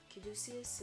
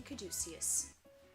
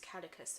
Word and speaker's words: caduceus: this responsibility i'm joining caduceus for the longest time i thought it was catechist and that's how i've been pronouncing it for the longest time until i'd actually heard it like spoken i don't think in